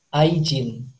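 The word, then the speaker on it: 愛人: Kalau di bahasa Jepang cara bacanya aijin.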